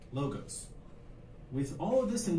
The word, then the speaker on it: logos: You may hear them pronounced in various ways. For this tutorial series, we'll use the following pronunciations: ethos, pathos, logos.